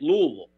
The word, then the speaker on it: Louisville: If you notice, I said it right, Louisville. Yeah. Louisville. Yeah, we stay Louisville.